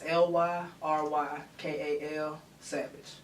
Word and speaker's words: Lyrykal Savage: It's Lyrykal Savage. I say that one more time, because, you know, I didn't spell it right.